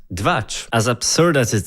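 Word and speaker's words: Двач: They themselves created 2cha, pronounced dvach.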